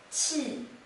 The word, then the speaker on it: 器: This character is pronounced as 器, 器.